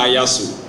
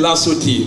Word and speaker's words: Ayasu: He didn't see the I well, so he was pronouncing lasso tea, like Edu said. I said, it's not lasso, it's Ayasu.